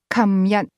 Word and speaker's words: 琴日: The term yesterday, for example, is pronounced 琴日, in Hong Kong, beginning with a k sound.